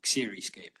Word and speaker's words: Xeriscape: It's pronounced the same, basically, Xeriscape.